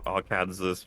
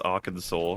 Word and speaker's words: Arkansas: beaten rags but just you know arkansas but no it's arkansas it's like how did